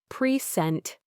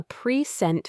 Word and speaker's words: present: He gave me a present for my birthday. Present, stress on the second syllable, as a verb, meaning to give something or to introduce.